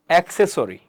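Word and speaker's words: accessory: কিন্তু পরবর্তী যে সিটা আছে, পরবর্তী যে সেকেন্ড সিটা আছে, এই সির পরে কি আছে দেখেন ইআই ওয়াই এর একটা লেটার আছে, রাইট। তাহলে এই পরবর্তী, এটার পরবর্তী সির উচ্চারণ কি হবে আমাদের সি। তাহলে কি হবে এক, এক সে সরি, এক সে, দেখেন এক সে, অ্যাক্সেসরি, অ্যাক্সেসরি, রাইট।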